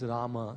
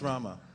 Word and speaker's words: Rama: like if it's uh it actually ends with a a so it's Rama in Sanskrit it's always it's Rama it's Rama it's always pronounce 16